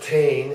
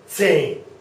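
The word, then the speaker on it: zehn: And that is not Tain and it's not Zane. It is Zane. Hear that? Zane. So there's that TS there. Zane. Zane is the pronunciation. Zane.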